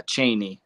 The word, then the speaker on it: Cheney: broke up there a little bit is it pronounced the Cheney Mansion yeah Cheney okay I was just wondering um it's not